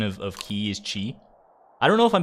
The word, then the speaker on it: qi: i mean zed today i learned the chinese pronunciation of of ki is chi i don't know if i'm saying it exactly